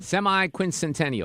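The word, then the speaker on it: semiquincentennial: Semi-quincentennial.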